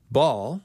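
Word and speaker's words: Baal: names with a night's king first of all ball which is spelled BA ' a L of Canaanite myth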